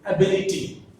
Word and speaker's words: ability: This ability has 4 syllables again. One is A, second one is B, li, T. So, from the ending, 3rd syllable is that B. So, ability. B is the stressed syllable.